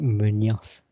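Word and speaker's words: Muñoz: Yes, so 18-year-old striker Santiago Munez made his first start for the club to face Monterrey. This is the only clue because the surname you actually pronounce it Munoz.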